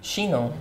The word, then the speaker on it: Chinon: So tell me how to pronounce this again. Chinon.